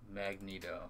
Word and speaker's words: Magneto: one magneto that's how you let's say you pronounce it really are you just messing with me magneto okay got it I know I don't watch